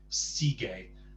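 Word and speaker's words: sigue: But because they want that hard G sound, sige, you put a U there, and the U just tells you that it's the U isn't to be pronounced, it just hardens the G. Sige.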